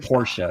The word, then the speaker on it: Porsche: no por Porsche oh the POR Porsche it's a two- syllable word ah feran Porsche yeah